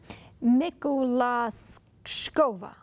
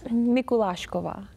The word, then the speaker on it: Mikulashkova: We have Mikulashkova. All right. Maybe you should pronounce for us. Mikulashkova. Oh, thank you. Much better.